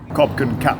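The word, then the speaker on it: ขอบคุณครับ: and it turns out it's not the person you're speaking to that dictates how you say it it's the gender of you personally as men we have to say Cobin cap cap and if you're a girl you say cop car copin cap for watching turns out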